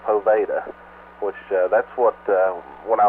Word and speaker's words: Poveda: YouTube, and she said his last name is pronounced. She spelled it out where I can do it. It's Poveda, which that's what when I was introduced to